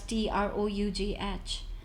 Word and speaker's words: trough: stough it's spelled as t r o u g h there's like It's just tough with an R after T so tough and trough and after that we